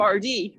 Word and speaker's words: Ardee: I'm from RD. ARDEE is how it's spelled, in English, but it's Ferdia was the thought Colin.